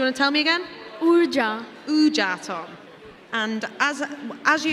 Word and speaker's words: Urja: URJA.